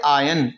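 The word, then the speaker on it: iron: भी आप फॉक्स करेंगे इसे बोलेंगे आयन आयरन नहीं बोलेंगे आर्य साइलेंट हर ओनली वॉच धोखा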